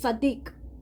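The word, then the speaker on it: צדיק: Source the Creator sadik used the TS sound in this case this word is pronounced Sadiq Sadiq is righteous as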